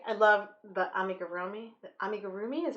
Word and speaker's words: amigurumi: - indole anyway I love the amigurumi I make a roomie is how you pronounce it um crocheting in the round I